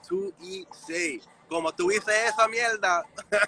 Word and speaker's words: 2ESAE: For everyone who don't know how to say it, it's Tu Ise.